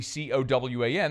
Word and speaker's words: Cowan: I've been calling him Cohen. Everyone else says Cowan. Well, you look at it phonetically, C-O-W-A-N, it says Cowan.